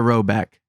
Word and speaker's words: Rhoback: So if you play football or you're a football fan, you wear Rowback.